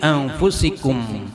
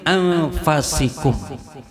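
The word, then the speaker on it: أنفسكم: Sungguh telah datang kepada kalian rasul, utusan, min anfusikum, yaitu apa? Dari golongan kalian, dari kalian. Ada riwayat lain bacanya min anfasikum. Kalau kita kan biasa min anfusikum, tapi riwayat lain min anfasikum bi fathil fa.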